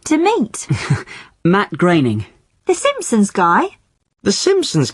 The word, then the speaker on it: Groening: thought it was pronounced groaning well I did too for a long time but no it isn't it rhymes with raining Matt graining okay that's the name